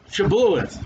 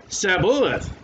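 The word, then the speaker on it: Shibboleth: But the Bible way is, then said they unto him, say, Shabuoth, which I can't say. And the Ephraimite would say, Sabuoth. For he could not frame to pronounce it right.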